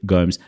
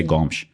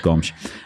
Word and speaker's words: Gomes: Jade, Gomes, thank you so much. Or should I say Gomes? I think it's much better. I should say it properly. Jade Gomes.